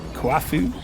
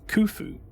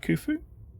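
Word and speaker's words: Kuafu: But otherwise, yes, correct me on pronunciations. It's the only way you'll learn. Bridge disabled. Kaufu as I keep calling him which is not a it's not an easy name to say anyways. Kufu. Okay. Kufu.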